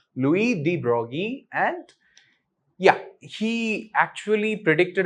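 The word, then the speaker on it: Louis de Broglie: Brogy is actually even though it is spelled D Brogley he's a French scientist Louie D Brogy and yeah he actually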